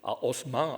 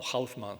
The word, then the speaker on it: Haussmann: Primero, da la fisonomía del Gran París, es él el que construye, le indica a Haussmann, o Haussmann, si queréis pronunciarlo a la alsaciana, Haussmann le da el